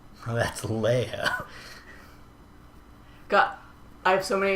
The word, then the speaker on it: Leia: How do you think Leah is spelled? Oh, that's Leia.